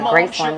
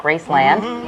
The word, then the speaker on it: Graceland: down in Memphis, Tennessee, exactly how they pronounce it down there, Graceland, not Graceland.